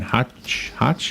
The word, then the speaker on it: Hoch: It's Hoch. Rhymes with Coke.